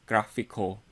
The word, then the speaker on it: GraphiQL: as sql so for this i'm going to pronounce this as graphical so again this tutorial we will be installing